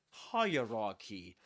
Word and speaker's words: hierarchy: The point is that we say hierarchy and the accented syllable is the first one.